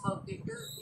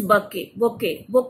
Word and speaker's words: bouquet: Okay, this bouquet. T नहीं बोलना है. मैंने क्या बोला? T is silent. This bouquet. Say bouquet.